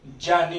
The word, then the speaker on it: ज्ञानी: ये ज बोला जाता है उच्चारण में, इसको ग नहीं बोला जाता, ये होता है ज। ज्ञानी नहीं होता, जानी होता है, ठीक है।